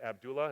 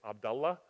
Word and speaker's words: Abdullah: When you see that name Abdullah, you guys say it Abdullah. It's not how you say it. It's Abdullah.